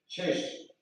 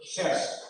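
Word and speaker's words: Sash: Shesh. How to spell it? S-A-S-H. Shesh.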